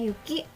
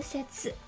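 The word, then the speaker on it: 雪: Nah, pada kanji yuki ini memiliki dua cara baca, teman-teman, yaitu ada kung dan ongnya. Kungnya yuki, ongnya itu setsu.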